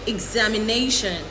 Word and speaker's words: examination: Remember to use the i sound at the beginning of these words.